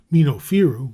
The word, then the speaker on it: Minofiru: Minofiru, which is the correct pronunciation and the origin of